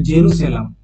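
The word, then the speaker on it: Jerusalem: ইসরাইল জানো রাজধানী হচ্ছে জেরুসালেম বা জেরুজালেম একচুয়ালি এটার উচ্চারণটা হচ্ছে জেরুসলাম জেরুসালেম মুদ্রা হচ্ছে সেকেল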